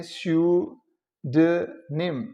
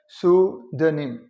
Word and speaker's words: pseudonym: Words हैं, alias and, ये जो वर्ड है इसकी 2 प्रोनाउंसिएशन है, जिसमें यू की साउंड देते हुए आप कहते हैं स्यूडनिम, स्यूडनिम, या फिर इसको वैसे ही यू को ऊ साउंड जो है सूडनिम, स्यूडनिम और सूडनिम।